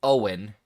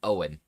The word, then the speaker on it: Eoghan: So it's said like Owen, but being Gaelic, it is spelled. I'll drop this into chat. Paste. But it's said like Owen.